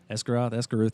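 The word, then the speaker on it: Esgarrouth: Esgaroth, I think is how I pronounced it.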